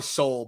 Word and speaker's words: Seoul: It's probably Seoul, but with a silent E.